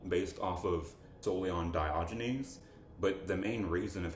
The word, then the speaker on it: Diogenes: do you say his name again biology news diogenes thank you if diogenes like was the person